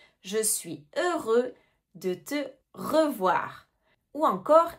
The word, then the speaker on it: heureux: Attention, on ne prononce pas le X. Je suis heureux de te revoir.